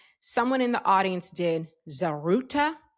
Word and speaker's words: Zaghrouta: in the audience did Zaghrouta I know I am not pronouncing it exactly right. I'm not rolling the R in the right way.